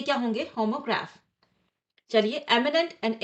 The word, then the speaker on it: एमिनेंट: Imminent, एमिनेंट almost same है बोलने में।